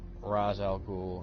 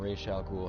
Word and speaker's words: Ra's al Ghul: take Ra's al Ghul or Rachele cool however you want to pronounce it depending on which series you prefer like he's supposed to